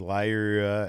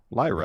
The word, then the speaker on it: Lyra: Lyra. Valkyria. Lyra. But Lyra by itself isn't that difficult. Yeah, no, I'm saying it. Lyra. That's how it's pronounced.